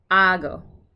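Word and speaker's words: ἄγω: it a try okay ago the emphasis is on the first syllable okay now we're gonna do it ready four times or three times ago ago ago okay and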